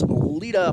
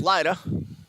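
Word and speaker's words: Lyda: Excellent defense by TBC's Lita. Might have mispronounced Lita's name earlier. Lydia. It's L-Y-D-A. Sorry, Lita. Now I'm told it's Lida.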